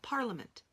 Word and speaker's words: parliament: How about parliament? Parliament. Oh, there's an A in that one too. So we think to spell parliament.